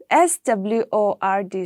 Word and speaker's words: sword: so that is it okay in sword also s-w-o-r-d sword the w is there but we don't